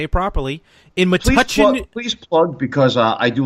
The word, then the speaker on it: Metuchen: In Metuchen.